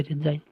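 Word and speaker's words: resign: या फिर देखो साइकोलॉजी हम पी को पूर्णतः नकार देते हैं, और जी है यहाँ पे रिजाइन है, रिजिगन नहीं होगा बल्कि होगा रिजाइन। तो इस प्रकार की जो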